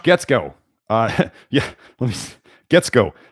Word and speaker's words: Guetzkow: Getsko. I asked him his name multiple times so I can make sure to pronounce it right. Josh, Josh. Obviously, that's how you spell Josh. Getsko, his last name, Guetzkow.